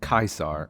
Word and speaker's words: Caesar: who was guys julius caesar and for those of you wondering gaius was actually his first name and julius was his family name caesar which would actually be pronounced kaisar in latin was his cognomin essentially